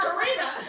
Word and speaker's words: Karina: And so the compromise was her name is spelled Karina, because that's the way he wanted it. Okay. Whatever. But it's Karina.